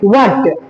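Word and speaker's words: what: जे व्हाट व्हाट? यहां पर हर silent हो जाता है।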